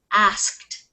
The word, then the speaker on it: asked: please ask okay but we're not going to pronounce an ed there it's asked asked asked yeah asked asked so which one are we doing uh T the T sound asked everybody try it asked